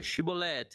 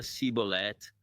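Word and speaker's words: shibboleth: Essas duas tribos pronunciavam o nome da planta chibolet de maneira um pouco diferente. Uma dizia chibolet, a outra cibolet.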